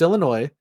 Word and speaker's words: Illinois: And I was like, "Uh, now now to pronounce now to not pronounce the S, we are capitulating to the French.